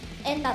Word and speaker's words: ゑんら: 、あの、難しい絵っていう字でエンナって読むんですよ。